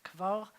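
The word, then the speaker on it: כבר: And we have a vet in this one too. Kva with a resh. Kvar.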